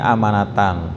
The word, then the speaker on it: amanatan: Mimba'di sudah al-gommi ya, rasa sedih ya karena menderita kekalahan, amanatan, yang turun ini amanatan, turun rasa aman ya, aman. Jadi bacanya a-nya pendek, kalau nya panjang ya a-nya iman ya.